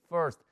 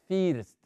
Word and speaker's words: first: iniciar con first forest se pronuncia así first no se dice first no no no se pronuncia más o menos como decir fernando fernando así por first horst